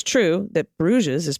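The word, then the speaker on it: Brugge: get rid of it in dutch the g's are very guttural pronounced at the back of the throat the ch and the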